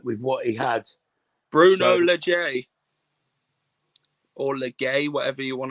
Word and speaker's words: Lage: Bruno Legay, or Legay, whatever you want to pronounce it, or Laggy, like a Laggy band. Well, it's age, isn't it? It's age with L. So Bruno Lage.